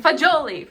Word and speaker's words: fagioli: Fine, fagioli.